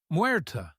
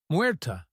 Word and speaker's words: Muerta: Muerta, she said finally. My name is Muerta. She accented the syllables evenly. Muerta, he repeated. Muerta. He rolled the ER slightly, as she had done.